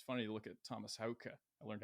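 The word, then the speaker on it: Haake: older dudes it's funny to look at Thomas hauka I learned how to pronounce his last name it's Hoka and Thomas is I mean he looks like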